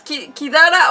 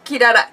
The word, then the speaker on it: Kirara: Yeah, your dog is Kidara or Kirara? Kirara. It's the second one. It's with an R.